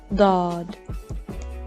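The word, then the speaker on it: ض: Dad. The same rule applies as the previous letter, Sad. Dad is also a heavy letter. Think of it as a heavy D.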